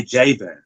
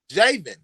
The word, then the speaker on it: Javen: It's Raven with the J. So just like Raven, but okay, with a J, Javen. Javen.